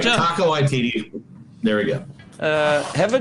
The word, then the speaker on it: Waititi: I learned how to say it properly. I did too. I did too. I got it. Taika Waititi.